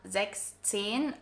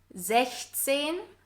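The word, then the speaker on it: sechzehn: pay attention here because it's not 16 and 17, but 16, so without the S in 6, and 17 without the EN in 7.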